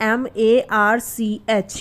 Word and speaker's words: March: तो इसका रूल ये है कि अगर सी के बाद एच हो, ठीक है, तो वहाँ पर सी का उच्चारण च हो जाता है। एग्जाम्पल से समझते हैं, जैसे MARCH, यहाँ पर सी के